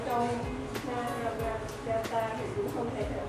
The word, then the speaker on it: Mahabharata: Một là Ramayana và thứ hai là Mahabharata. Chúng ta nên phát âm cho nó chuẩn ở chỗ này.